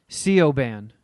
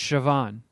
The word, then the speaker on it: Siobhan: it looks like you would phonetically pronounce it co band but it's Siobhan but then you got